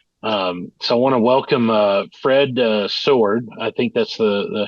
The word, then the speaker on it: Soward: they think it's pronounced Soward.